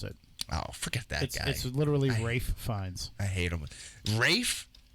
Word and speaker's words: Fiennes: named toby ray Fiennes oh I have an L in there maybe there isn't L he just doesn't pronounce it I'll forget that literally ray Fiennes I hate him with